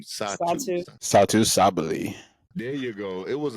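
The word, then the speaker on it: Satou Sabally: Satu Sabali.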